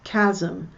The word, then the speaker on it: chasm: Notice I pronounce chasm with a K, not with a ch of CH. It's the hard CH.